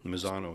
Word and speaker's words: Misano: Mini Cooper and am I saying it right Misano Italy Misano yeah yep Misano circuit Misano and italy one